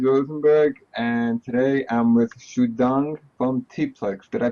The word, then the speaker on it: Xudong: It's Ed Rosenberg, and today I'm with Xudong from Teapplix. Did I pronounce it right?